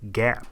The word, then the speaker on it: GAAP: FASB was formed in 1973, and through its pronouncements it has established the Generally Accepted Accounting Principles, abbreviated GAAP and pronounced as GAAP.